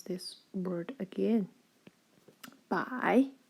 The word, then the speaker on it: 百: It's pronounced as 百. Pay attention, it's the dipping tone.